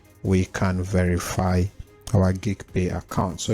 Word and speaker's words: Geegpay: you want to use geek pay for or gig pay I prefer to call it geig pay all right so you can pronounce it as you want so you select on